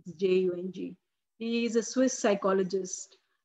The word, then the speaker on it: Jung: I think it's pronounced Jung, Jung.